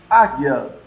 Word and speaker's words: águia: Águia. O U não é pronunciado. O I também sai fraquinho. Águia. O A aparece, ele forma a sílaba, mas as outras não têm um som forte.